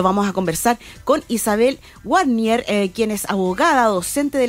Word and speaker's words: Warnier: Se pronuncia Warnier. Warnier, perfecto.